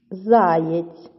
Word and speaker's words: заєць: Заєць. Заєць. Перевіряємо, чи так у вас. Визначаємо наголос заєць чи заєць. Так, наголошений перший склад.